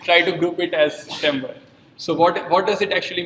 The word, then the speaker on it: timbre: Then another perceptual quality of sound is timbre. So people pronounce it in different ways, timbre, or I call it as timbre.